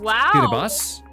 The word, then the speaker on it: Kiribati: Pronounced Kiribati.